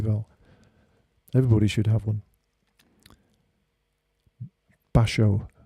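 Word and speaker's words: Bashō: everybody should have one basho not bashu or maybe it's spelled two different ways basho means banana in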